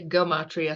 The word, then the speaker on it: gematria: And some people say gematria, some with a hard G, some say it with a soft G. Either way is fine.